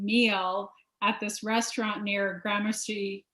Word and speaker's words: Gramercy: at this restaurant near gramercy grandmaster park is that how you say it oh gramercy yeah granacy park and so